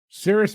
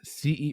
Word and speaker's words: Cerys: Cyrus Matthews was the lead singer of what rock band? And I could be pronouncing his name way wrong. It's Cerys. Cerys.